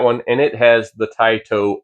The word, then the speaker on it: TYTO: I actually reached out to the company and asked them, they said it's pronounced Tai toe and that is in reference to a genus of owls which includes barn owls.